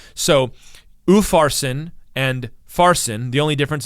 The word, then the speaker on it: Upharsin: But if you have the Hebrew letter Vav before it, that is the word and it's pronounced with the letter U in this case. So Upharsin and Farsin, the only difference is the sound U, and the word U means and.